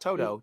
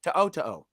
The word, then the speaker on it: To'o: Not the dog in the Wizard of Oz. Not Toto. To'o. Yeah. You got to say it like you got to stutter.